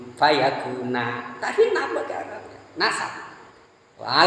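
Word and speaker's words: فَيَكُونَ: Di sebagian qiraah bukan fayakun, bukan gitu bacanya. Fa in wa idza qada amran fa inna ma yaqulu lahu kun fayakuna.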